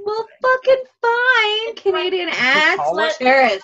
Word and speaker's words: Terrace: She said Terrence? No, you said Terrence. I want to hear this. No. How do you say it? Torrent?